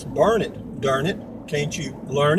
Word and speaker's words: Burnet: coming into Burnet Texas it's pronounced burn it but it's spelled b-u-r-n-e-t where net but they pronounce it burn it and if you go